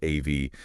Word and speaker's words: Av: The Hebrew month of Av, pronounced Av.